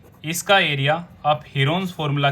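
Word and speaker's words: Heron: और इसके एरिया को हम प्रूव भी कर चुके हैं हीरोन्स फॉर्मूला की हेल्प से। हीरोन्स की एक्चुअल प्रोनाउंसिएशन है हिरन्स फॉर्मूला।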